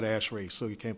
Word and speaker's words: ASHRAE: and air conditioning engineers so we call it ashrae so you can't pronounce